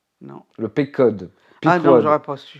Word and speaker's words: Pequod: En plus, je sais même pas comment ça se prononce. Non. Le Pequod.